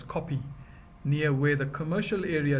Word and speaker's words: Kope: The name Harare derives from the Shona chieftain Nirwana, who with his people occupied the area known as the Kope, pronounced as Kopi, near where the commercial area developed.